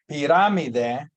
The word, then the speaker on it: pirámide: It's the stress is on that unlike English. Pyramid syllable, it's that last syllable. In Spanish, it's pirámide.